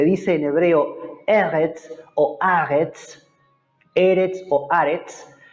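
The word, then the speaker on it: ארץ: hebreo eres arts aritz yo pronunció la r un poquito cultural se los dije la clase pasada se puede hablar un poquito diferente en hebreo con lage con esa r un poquito más cultural o no algunos dicen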